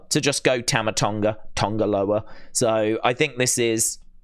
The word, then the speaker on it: Tonga Loa: clearly they've decided to go with the Tonga Lowa spelling and pronunciation rather than Tanger lower so it's t n